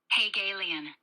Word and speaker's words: Hegelian: your ge's anyway uh Miriam Webster pronounces this as Hague alien okay so that's Merriam-Webster